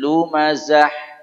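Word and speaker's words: لمزة: Za sama-sama Zai kemudian huruf terakhir huruf ha huruf ha banyak orang membaca tidak Bunyi atau jadi ha humazatil lumazah Zah kalau Zah itu ha huruf ha lebih gede dari itu lumazah Zah ada tekanan Zah ada aliran ya sifat dia hamasah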